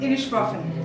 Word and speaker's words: Inishbofin: Inishbofin. I think it's just purgatory. It's Ma'am, how do you pronounce the name of the island? Inishbofin.